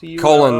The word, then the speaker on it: Cullen: name was Charlie Cullen that's how you say it Colin like um like the like the people like Edward Cullen yeah yeah yeah so